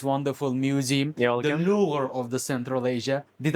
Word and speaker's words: Louvre: Louvre of the Central Asia. Did I pronounce it right?